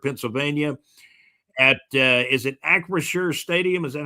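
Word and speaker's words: Acrisure: Yeah, it's Acrashure Stadium and also part of the draft will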